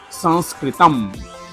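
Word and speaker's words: संस्कृतम्: pronounce Sanskrit in Sanskrit, Sanskritam. Sanskritam. Say with me, San, like a nasal sound. San, Sanskritam. Welcome to this Sanskritam story time.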